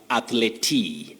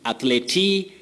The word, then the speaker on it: athlete: The first word that we've collected for tonight is a word that many people mispronounce as athlete. Athlete, no. We say athlete.